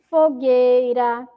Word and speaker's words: fogueira: Olha lá, caranguejo, fogueira, foguete, jegue, águia, guitarra, laguinho, sagui. São aí exemplos de palavras que o U não foi pronunciado, tá bom?